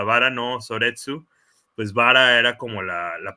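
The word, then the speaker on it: 薔薇の葬列: Rosas en Pues que en japonés se pronuncia vara No soretsu pues vara era como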